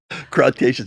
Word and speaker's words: Cretaceous: Cretaceous.